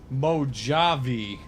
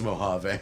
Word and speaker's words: Mojave: is pretty left alone oh you must hear some really goofy pronunciations of with your job IV mojo v oh man behave whoa it's mojave it's super full of